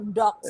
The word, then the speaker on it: DOHX: Ada Dibacanya docs. docs, DOHX gitu ya.